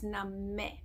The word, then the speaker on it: Nameh: Bring your hands into the heart center, and there are some phonetically challenging parts to it, as when we say Nameh, it's a sound not me, right? So it's Nameh.